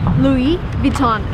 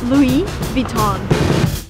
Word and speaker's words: Louis Vuitton: So, everything needs to be pronounced in a French way if you want to sound proper in English as well. So, Louis Vuitton.